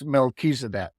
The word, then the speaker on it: Melchizedek: It's Melchizedek. Oh, I was not close at all. Oh, Yeah. Melchizedek is truly one of the lords of light in this universe.